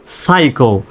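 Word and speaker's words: psycho: এস ওয়াই সি এইচও সাইকো পির উচ্চারণ silent S সাই সি এ সাইকো তো এইভাবে ইংরেজি শব্দ যেখানেই শব্দের প্রথমে পিএস দেখবেন সেখানে পির উচ্চারণটা সাইলেন্ট করবেন বা ওখানে নীরব রাখবেন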